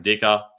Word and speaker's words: Dicker: week in particular Cameron Dicker anyone whose name rhymes with kicker I'm a fan of